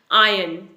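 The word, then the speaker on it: iron: यहां पर साइलेंट है आर को प्रोनाउंस नहीं करना है इसे बोलेंगे आयन आयन जो पर्सन हमारी पानी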